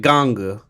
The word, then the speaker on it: Gang: They pronounce it Gangu, but his name is spelled Gang, Gang.